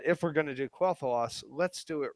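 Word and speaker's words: Quel'Thalas: let's move on so quell the loss I hope I'm pronouncing it right but I believe it's quoth loss that's correct was was it planned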